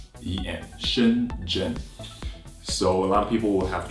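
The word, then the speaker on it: Shenzhen: gen gen sh e and z h yeah Shin Jin so a lot of people would have trouble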